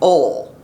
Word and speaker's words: oil: For my California friends, the word oil is not pronounced that way. It's ol.